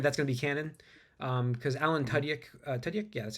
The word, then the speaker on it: Tudyk: Because Alan Tudyk, yeah, that's how you say his name.